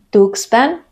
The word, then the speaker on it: Tuxpan: palabras X en medio cuando la x coloca en medio de la palabra normalmente suena como ks que es el sonido más conocido de la x por ejemplo examen exito taxi algunos topónimos que siguen esta regla son Tuxpan Atlixco Texcoco y algunos topónimos que